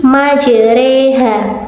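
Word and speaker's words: مجريها: Nah, pada pertengahan ayat tersebut ada lafal majroha yang jika dibaca imalah menjadi majreha. Kenapa demikian? Karena huruf ro pada lafal majroha dicondongkan ke arah kasroh 2/3-nya menjadi majreha.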